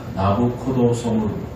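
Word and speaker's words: Nabucodonosor: 그런데 이 네부카드네자르라고 하는 이 발음을 이태리어로 하면 어떻게 되느냐 하면 나부코도소무르입니다. 나부코도소무르.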